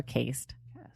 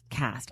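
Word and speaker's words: Caste: Is that how you say it? Cast or cased. Cast. I always this up. The E. Any other word, the E makes the vowel say its name.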